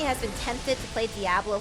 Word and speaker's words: Diablo: Is it not Diablo? Diablo. Diablo?